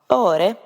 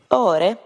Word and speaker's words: Åre: Åre. That's spelled A-R-E. Åre. Sweden. It's not actually an A. The A has a little circle on top. Åre.